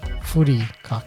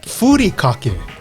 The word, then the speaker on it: Furikake: It's Furikake. Furikake.